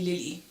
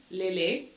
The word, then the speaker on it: Lehlé: me Lily for years I accepted this mispronunciation of my name unaware of the profound importance of my name's true sound it wasn't up until my time in Canada um for University that I started to assert the pronun pronunciation of my name I Found the courage and the voice to reclaim my identity by asserting the correct pronunciations pronunciation Le this moment marked not